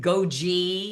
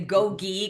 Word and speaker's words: GOGI: find it in the trash and they pronounce it goji instead of gogi because they've never heard how we pronounce it.